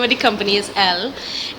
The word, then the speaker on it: ELLE: So the name of the company is L. It's spelled ELLE, but it's pronounced L.